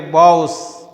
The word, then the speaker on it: boughs: And gather birds among their boughs.